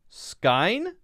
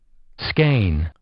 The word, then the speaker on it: skein: verb say aver but ever fever neither leisure skyne receiver is this kind i need a sip of coffee skein skein oh skein a length of yarn or